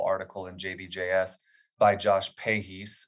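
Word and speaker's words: Pahys: recently a wonderful article in jbjs by Josh pahis spelled p-a-h-y-s out of the Shriners Hospital in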